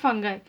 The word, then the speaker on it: fungi: अब अभी आप सोच रहे होंगे कहीं पे मैं प्रोनाउंस कर रही हूँ फंजाई, कहीं पे प्रोनाउंस कर रही हूँ फंगाई, तो both are correct. Okay, American English, according to American English and British English, some of them pronounce फंजाई and some people pronounce as फंगाई।